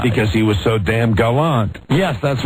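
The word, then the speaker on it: Galant: But it's Mitsubishi Gallant, not Gallant, right? It's Mitsubishi Gallant. But do they spell it the same way? I believe so. The dictionary says it can be pronounced either way, but their preferred pronunciation is Gallant.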